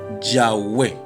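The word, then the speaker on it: Yahweh: el sistema de puntuación se cree que es muy posible tal vez es la forma más posible de la pronunciación como que sería yagüe cuando es dicha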